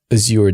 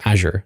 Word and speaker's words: Azure: okay and where does aure devops or Azure devops as some pronounce it fit with gitlab how do the two work because you have three you have Azure devops or aure devops as I call it gitlab